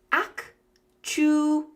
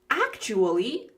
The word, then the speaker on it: actually: Actually, actually. Actually. And sometimes when we're speaking quickly, that third syllable uh we just leave it out.